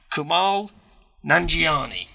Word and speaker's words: Kumail Nanjiani: Kumail Nanjiani is how we're going to say his name. That's what we're going with.